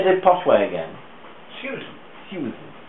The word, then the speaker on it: Susan: Susan. It's like Su. Well, it's as though it's a diffong there's an I before the U. So Susan, right? And that's how it should be said.